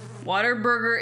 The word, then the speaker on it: Whataburger: Whataburger is the correct pronunciation.